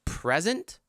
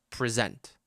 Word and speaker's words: present: It's a noun, so we have to put the stress on the first syllable. I have a present for you. Present. I have a present for you. Next. Can I something my project tomorrow? Can I? Where do we put the stress? Is it a noun or a verb?